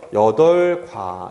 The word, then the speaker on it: 여덟과: 수사잖아요 그렇죠 그래서이 친구는 그냥 여덟 이렇게 발음하고요이 뒤에 나와 있는과 있죠이 과를 된 소리로 발음을 할 근거가 없습니다 그냥 그래서 여덟과 이렇게 반응하셔야 돼요 알겠죠 이게 우리가 헷갈릴만한